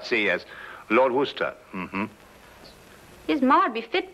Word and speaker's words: Worcester: something else too dark but it's spelled w-o-i-c-e-s-t-e-r we're a system oh yes I see yes Lord Worcester mm-hmm his mind be